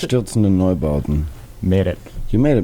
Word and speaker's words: Einstürzende Neubauten: You want to pronounce it? Einstürzende Neubauten.